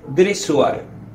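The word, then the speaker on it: Dessoir: Francés él se llamaba Max dresuar Max dressoir como se escribe y él definió Este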